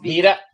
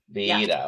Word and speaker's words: Vida: It's pronounced Vida. Vida. Okay. Vida. That's how I would say it in Spanish, but that's right.